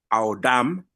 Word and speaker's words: Adam: They give you the pronunciation. So, Audam.